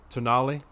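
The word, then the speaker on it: Tonale: but uh you know if you just read it in if you don't know how it's pronounced and you're from the north like me it looks like to tone my misspelling of toenail it's the most unfortunate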